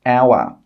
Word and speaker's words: hour: Also, the letter H can sometimes be silent when it's at the beginning of a word. For example, hour.